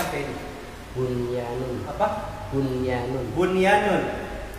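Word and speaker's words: بُنْيَانٌ: Kenapa kok bisa bacanya Bunyanun enggak Buyanun? Belajarnya begitu. Kan ini gombinguna. Nun ketemu ya. Dalam satu kata itu.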